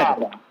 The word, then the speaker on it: Csaba: Saba.